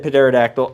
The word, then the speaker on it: pterodactyl: I said pterodactyl. I don't care. I know the P is silent.